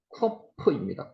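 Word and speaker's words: קוף: 19번째 단어가 코프입니다. 코프. 코프. 키읔 발음입니다. 코프.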